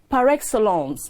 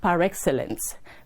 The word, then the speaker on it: par excellence: l c e and it is pronounced par excellence not par excellence that is the word